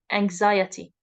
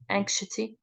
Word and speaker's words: anxiety: anxiety depression and anxiety it's pronounced anxiety not anxy okay anxiety um there is a